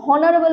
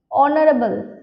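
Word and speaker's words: honorable: না দেখো honest অনারেবল অনারেবল আর ঠিক আছে এগুলো সবই কিন্তু আমরা উচ্চারণ দেখো এইচ গুলোকে সাইলেন্ট রাখছি কি রাখছি H silent honest অনারেবল অর এগুলোর এইচ সাইলেন্ট আছে তো মনে রাখবে আমার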